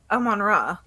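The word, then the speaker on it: Amon-Ra: yes okay is it a manra or is it a monroe it's amanra it's he's literally named after the egyptians that sounds like yeah keep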